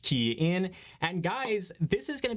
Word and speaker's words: Kian: Hey everyone, it's Kian for the Rideshare guy, pronounced Kian.